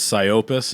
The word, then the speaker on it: Psyopus: And then found out that he's in Sully and it was Psyopus. Is that the right pronunciation?